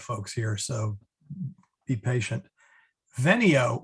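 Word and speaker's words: venio: here so be patient veneo with a short e is i come vainy with a long e is i came now fortunately the the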